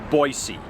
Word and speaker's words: Boise: three things i know about boise one it's pronounced boise all the natives have been saying you have